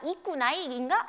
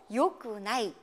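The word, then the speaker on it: よくない: 자, 그 다음에요, 좋지 않다라고 할 때도요, 아, 좋다는 이니까 이꾸나이인가? 라고 생각하기 쉽지만 그게 아니고요, 바로 요꾸나이, 요꾸나이라는 거 기억을 꼭 해두셔야 되겠어요.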